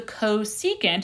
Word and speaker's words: cosecant: opposite over hypotenuse great so that means the cosecant is how you say that the Cs C